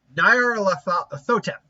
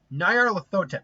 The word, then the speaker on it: Nyarlathotep: King versus, one second, Nyarlathotep. Nyarlathotep. It's that R part that gets me. See, I can do Nyarlathotep, no problem, but Nyarlathotep, I need to actually kind of phonetically say it out like that.